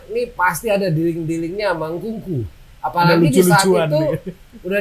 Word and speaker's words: Nkunku: Sebenarnya yang dia NKU kuadrat. Engku. Bukan. Gue sendiri dulu pernah nulis Nkuku. N yang kedua ini salah tuh. Nkuku. Jadi Nku kuadrat ya, Nku 2 kali.